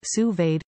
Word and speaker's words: sous vide: via your smartphone what to cook sous vide pronounced sous vide cooking offers the perfect level of doneness for